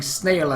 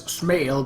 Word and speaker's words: snail: I mean, I do remember pronouncing snail as smail back when I was